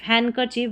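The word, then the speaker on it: handkerchief: ये है हैंडकरचीफ नहीं, हैंडकरचीफ, हैंडकरचीफ डी साइलेंट है।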